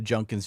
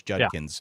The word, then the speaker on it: Judkins: he just kept going the junkins junkins junkins I looked on the pronunciation guy to make sure I wasn't crazy it's Judkins it is Judkins of course I listen